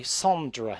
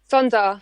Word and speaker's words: Sondra: That song was accompanied by a music video and an exclusive dance remix by Sondra, if my pronunciation serves me correct. Sonda. Sondra, yes.